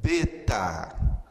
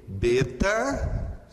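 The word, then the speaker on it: βήτα: O seu nome é justamente beta, e a pronúncia da letra é B como em boi, ok?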